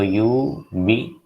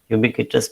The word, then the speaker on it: ubiquitous: Ubiquitous means universal or rather seen everywhere. So you look at these, compare these two words, ubiquitous and UHHER. Both begin with U, but it is pronounced differently.